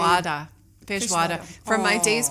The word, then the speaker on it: feijoada: where I can't know how to pronounce the name. Feijoada.